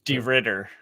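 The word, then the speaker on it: de Ridder: Ditter. Ditter.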